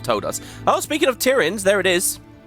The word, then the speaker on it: Tiryns: us oh speaking of Tyran there it is I looked up how to pronounce this on Wiki by the way apparently Tyrant is also valid so we're Olympia here